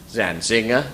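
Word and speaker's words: Zantzinger: which register that is it's William zanzinger it stresses on the second syll but not the unstressed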